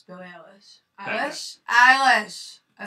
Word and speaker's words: Eilish: You want to announce it, because I can't pronounce the fucking name. It's Billie Eilish.